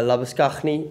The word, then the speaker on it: Labuschagne: i'm australian and um obviously uh lavascagni uh is is the traditional way that they pronounce it uh over here but look i'm not